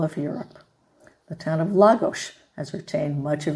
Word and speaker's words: Lagos: Another place we're going to talk about is Lagos, and that's the way it's pronounced.